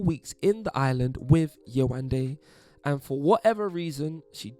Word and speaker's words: Yewande: in the island with Yewande, and for whatever reason, she just couldn't seem to get Yewande's name right. Yewande, or if you're going to say it the British way, Yewande.